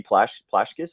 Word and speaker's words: Plashkas: buddy is it Sandy plashkas is that how you pronounce yeah you got it right bro most people can't pronounce last name on the first try so you guys I